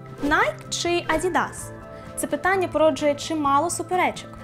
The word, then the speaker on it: Adidas: В Америці теж звучить інакше – Adidas, з наголосом на другий склад. Зате в Австралії це Adidas, як ми й звикли.